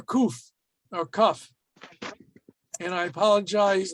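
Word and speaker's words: קוף: So kuf or kaf is always pronounced like the letter K. It's always going to be written this way. It's not going, has no tricks about it. It's always going to be a K sound.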